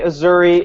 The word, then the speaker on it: Azzurri: I know Brandon is Azzurri. Is that how you say it? Just say it. Yeah, that's how you say it. Okay, Azzurri, Italy, the most trash team that doesn't really